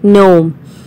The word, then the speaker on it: gnome: underground so it is gnome g is silent complete exercise a in